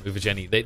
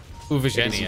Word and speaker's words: Uvajenie: UVA, then Jenny, basically.